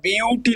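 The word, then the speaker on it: but: আর ইংলিশে এটা বিউটি লেখা হচ্ছে বাট না কিন্তু চারটে কার্বন মানে আমার বিউট হবে এখানে ইংলিশে উচ্চারণটা বাট হবে না কিন্তু বিউটি উচ্চারণ করতে হবে যেটা আমি এখানে বলে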